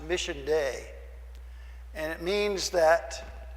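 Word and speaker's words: Missio Dei: there's a Latin phrase uh entire that is pronounced Mission day and it means that it's the mission of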